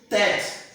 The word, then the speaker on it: tête: So accent chapeau is pronounced like example, we have tête, fête.